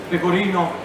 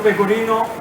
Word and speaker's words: pecorino: to score more character just be careful the way you pronounce pecorino thanks because that is important therefore everything safety reason the kirino is the cheese if you say people inna with an A at the end in Italian means talk style I'm telling